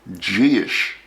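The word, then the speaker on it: dithis: variation we call a gish variation. That's pronounced Gish, pronounced not at all the way it's spelled.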